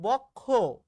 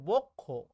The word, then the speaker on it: বক্ষ: যেমন আমি বলছি বক্ষ, এটা ভুল উচ্চারণ করছি রে ভাই, বলতে হবে এটার অ্যাকচুয়াল উচ্চারণ হচ্ছে বক্ষ, এই যে বাবা দেখো